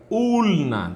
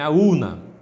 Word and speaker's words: ulna: continuaremos aqui com osso urina tá eu digo não é claro que você não vai pronunciar assim porque tem um l aí entre o e o n é aluna tudo bem esse osso